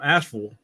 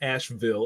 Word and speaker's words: Asheville: I'm from Asheville. That's how you say it, Asheville. Not Asheville.